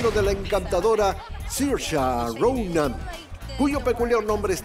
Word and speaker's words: Saoirse: My name is Saoirse Ronan.